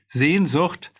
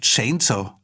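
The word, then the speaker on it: Sehnsucht: automatically by the way sien zhut which means longings is a word that americans really have an awful time trying to pronounce when they say it it sounds like chainsaw that's kettenseger in german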